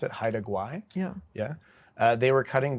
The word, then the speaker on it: Haida Gwaii: In one coastal area in BC, I'm going to try to pronounce it, Haida Gwaii.